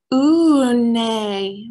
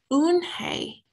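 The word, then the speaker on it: Unhei: name a girl asked on hey said unhi ooh nay the girl asks strengthen up her face ooh some kids chanted no no when i corrected it's filled u-n-h-e-i it's pronounced un hey oh it's you hey the boy said like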